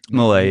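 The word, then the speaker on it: Milei: Malay.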